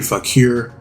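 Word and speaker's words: Vaquer: me on, the sexy goat demon herself, Stephanie Fakir.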